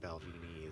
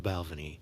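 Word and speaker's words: Balvenie: to be honest with you so is it balvan did I finally say it right yeah Balvin balvini is what Shane calls it I don't know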